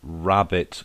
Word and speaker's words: rabbet: Okay, so you now need to acquire a so-called rabbit cutting bit for your router. That's spelled RABBET.